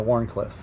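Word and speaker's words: Wharncliffe: Like I said, it's like a modified sheep's foot, almost a Warrenclyffe. A Warrenclyffe. There we go. So I can pronounce it correctly for my buddy Luke Albert.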